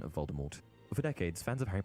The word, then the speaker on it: Voldemort: that it was actually meant to be pronounced with a French accent in which the T should be silent now if only we